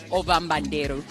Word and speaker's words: Ovambanderu: Okay, so over the last 2 days, we visited the Ovaherero and the Ombanderu. Help me pronounce it correctly if I'm wrong. Ovambanderu.